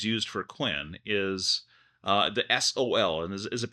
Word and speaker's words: Sol: I usually pronounce it as sole, like the sun in Spanish, but Okay. I've heard people say it in different ways, so I think either way works just fine.